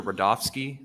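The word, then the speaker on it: Rudofski: guys special agent rodofsky that's r-u-d-o-f-s-k-i and it's pronounced Rudolph and then ski how you doing today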